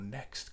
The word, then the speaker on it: NXT: And I'm looking to get on track with the new Indy NXT, or Next car, as I believe somebody was saying it's pronounced.